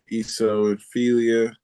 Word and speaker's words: eosinophilia: It's I don't know how to pronounce it. Drug reaction with EOSINOPHILIA.